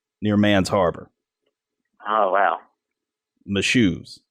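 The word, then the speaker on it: Mashoes: man's Harbor oh wow my shoes it's spelled in like I just spelled it of course you just got to think my shoes those are my shoes shoes yeah yeah naturally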